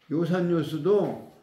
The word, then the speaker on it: 요산요수: 그런데 읽기는 음악이라는 악자로 읽지 않고 즐길 요라고 읽는다. 이거 한자가 이제 뭐 시험에 자주 나오잖아요. 옛날에는 뭐 한자 시험을 많이 봤는데 지금은 여기는 악자라고 하면 틀리고 요라고 해야 된다. 악자나 낙자로 읽어서는 안 된다.